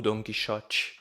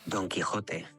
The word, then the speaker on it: Don Quijote: algum lugar e e ele me disse a pronúncia correta então Don quijote e don quijote don quijote Então nada mais penso